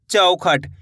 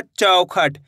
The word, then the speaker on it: चौखट: चौखट औ करके उच्चारण निकालना है। ऐसे नहीं पढ़ना है चौखट। चौखट पढ़ दोगे तो इस तरीके से ओ की मात्रा का उच्चारण हो जाएगा।